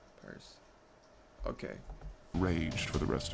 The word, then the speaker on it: Perce: How you pronounce it? Perce? Why the fuck I say Percy? Perce.